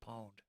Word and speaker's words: pwned: you owned me now shouldn't you spell that with a p is that pwned or am i too old am i showing my age does anybody say pwned anymore seriously somebody somebody has to say pawned no i don't know